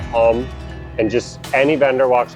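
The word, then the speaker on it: không: h o n g it's pronounced more like hum or hum and just any vendor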